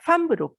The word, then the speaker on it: femme: 그래서 요거를 여러분이 틀리게 발음하는 경우가 많던데 그러니까 femme로 여러분이 발음을 해야 됩니다.